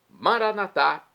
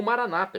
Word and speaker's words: Maranatá: Maranatá, também do hebraico, é meu clamor ou maranata, como dizem nossos irmãos separados das comunidades evangélicas ou protestantes. Não importa a pronúncia, o significado é o mesmo.